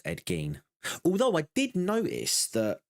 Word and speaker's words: Ed Gein: Uh, yeah, it's pronounced Ed Gane.